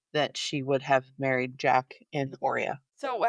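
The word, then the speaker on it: Jak: So it turns out that Slade's mom was having an affair with, I pronounce it as Jack, J-A-K.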